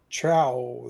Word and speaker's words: trow: And it says it's pronounced OU as in mouth, So it would be let's see if I can get it to say it. Trow then.